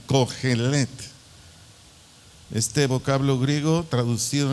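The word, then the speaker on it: cojelet: Del vocablo griego con C de coco y J, cogelet, así como se oye, cogelet, C-O-J-E-L-E-T-T-T, acento en la última E, cogelet.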